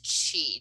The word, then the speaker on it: qi: character right in the the roman alphabet she is spelled q-i right what is chi to start with because chi gong and tai